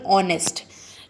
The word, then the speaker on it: honest: Okay, some words may begin with consonant letter but are pronounced at the beginning with a vowel sound. For example, honest.